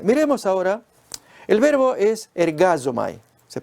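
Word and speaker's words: ἐργάζομαι: Pues miremos ahora, el verbo es ergazomai, se pronuncia así, yo trabajo, visto como obra secular en los otros textos del Nuevo Testamento.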